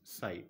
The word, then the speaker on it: psi: This symbol is called as psi, P is psi, where P is silent.